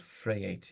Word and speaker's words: Vryheid: So I'm originally from a small town called Vryheid [pronounced Fray-eight] in South Africa, but I've been here working the Wessex region since 1999.